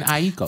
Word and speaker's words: Aiko: I used to say Aiko, like 3 syllables. And then a Japanese person told me it's Aiko. So it's like how people say Tokyo. Yes. But a Japanese person would say Tokyo as 2 syllables.